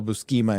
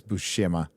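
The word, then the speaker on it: Buscema: era uh with uh I always mispronounce his name to this day okay cuz when I was a kid I call him you know the Sal bukima and John bukima I know it's busha but I called we called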